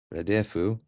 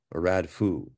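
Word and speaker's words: רדפו: They say radefu, but that's not how you'd pronounce that. Anytime you have a half vowel in the second place, that closes a syllable. So that'd be radfo or radfu.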